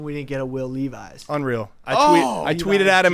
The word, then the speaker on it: Levis: I mean I uh Levi's Levis people pronounce my last name like Levi's all the time because of the name uh connection but uh it just